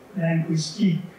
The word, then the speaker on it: linguistique: In French, it's linguistique, stresses on the last syllable.